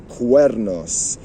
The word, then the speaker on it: cuernos: Cuernos. You see C-U, which is pronounced K.